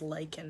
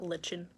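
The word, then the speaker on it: lichen: it's pretty cool yes I love pronouncing lyen is lyen not Lin or Lyin it's lyen i lik in it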